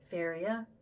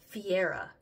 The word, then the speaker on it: Fiera: like that specific brand of concealer this faia Faria I should pronounce it right Fiera yeah so I like it cuz it Doesn't